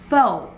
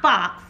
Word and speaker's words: faux: was pronouncing it wrong the f-a-u-x is pronounced foe the correct way of pronouncing it is fo f-o-o-fo not fox i used to say